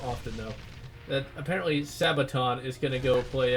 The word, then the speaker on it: Sabaton: But I'm a big fan of Sabaton, or Sabaton, or however you pronounce their name. I think it is Sabaton. At least that's how they were pronouncing it in one of their live shows. It's like Sabaton, Sabaton. I'll assume that's how they pronounce it.